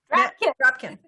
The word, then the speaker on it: Drapkin: Drapkin. Or Drapkin. Rhymes with napkin. Drapkin. There we go.